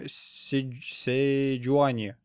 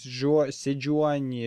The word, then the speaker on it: Седжуани: Акали в той команде мид, Дрейвен AD Carry с Игнайтом, кстати говоря, Лакс саппорт, судя по всему, Седжуани, наверное, так и правильно произносить, Седжуани джангл и Рениктон топ.